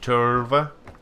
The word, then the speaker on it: Tölva: about the signal from Tova you have to say it right Tov um so open world